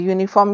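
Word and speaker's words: uniform: ऐसे ही ए यूनिफॉर्म you vowel है लेकिन ध्वनि क्या आ रही है या की तो इससे पहले हम ए लगाएंगे एन नहीं लगाएंगे यूनिफॉर्म की ध्वनि किससे आ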